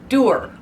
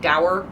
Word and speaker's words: dour: there will be more Doer Doer so apparently the word is pronounced doer I thought it rhymed with sour like dour sour but apparently no it's pronounced Doer it rhymes with sewer why dour sounds so